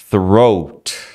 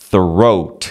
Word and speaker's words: throat: tem dificuldade garganta né throat throat você sai do th que é língua entre os dentes ó língua entre os dentes isso aqui ó e ar assoprado para fora assopra o